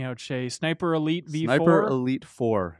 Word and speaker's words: Sniper Elite 4: Sniper Elite 4. There's no V. No V. There used to be a V. The V is silent.